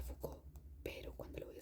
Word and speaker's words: Foucault: Entonces yo sé que se pronuncia Foucault, pero cuando lo voy a escribir hago mucho énfasis en cada letra.